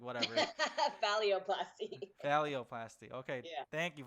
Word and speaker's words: phalloplasty: So because of your transition, have you thought about going in, like, to, I guess, have surgery for philapsty? Is that how it's pronounced?